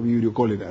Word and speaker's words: Vibrio cholerae: Claro, Vibrio, así se escribe, digamos, y se nombra como Vibrio cólera, digamos.